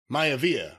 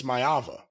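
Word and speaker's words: Maiava: thought I mispronounced it I didn't mean to say prince Maya via I said Prince myava different guy left my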